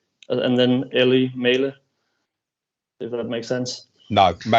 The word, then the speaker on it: Mæhle: So it's almost like the start of if you say mate, so you just go with a longer A, so it's May, and then Ellie Mæhle, if that makes sense.